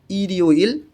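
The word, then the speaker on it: 일요일: তাহলে থো ইউইল শনিবার, ইরিউইল রবিবার। রিউলটা ইয়ংয়ের স্থানে গিয়ে উচ্চারণ হবে ইরিউইল রবিবার।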